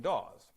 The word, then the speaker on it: Dawes: And, you know, when you, on an old Yankee, you pronounce Dawes and Daw pretty much the same.